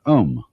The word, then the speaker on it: om: course the sound om that sound is used because if you spell it out a u m it runs from the back of your throat to your lips and therefore it contains the whole range of the voice and for that reason